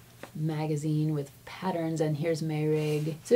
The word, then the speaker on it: Meirg: So, I'm going to jump in with Meurig. It's spelled m e i r g, but I believe it's pronounced Meurig.